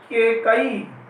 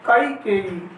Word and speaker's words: कैकेयी: दोस्तों अपन बोलते हैं केकई, अशुद्ध बोलते हैं तो अशुद्ध उच्चारण करते हैं, तो केकई अशुद्ध है हमारा, और इसका हो जाएगा कैकेयी। यहाँ पर इसका शुद्ध रूप हो जाएगा कैकेयी, यानी केकई दो मात्रा जो कई पर आ रही है यहाँ पर ये